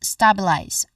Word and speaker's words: stabilize: in the spelling, there's a letter E in the end. Of course, in the end. But we do not say it. We do not pronounce it, which means that this particular letter is a silent letter. We do not say stabilize, but we say stabilize. So that's the proper way to say this particular word. So there's a silent letter E in this word.